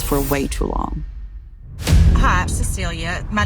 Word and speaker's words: Cecilie: It's Cecilia from Tinder Swindler. It's spelled Cecile, but it's pronounced Cecilia.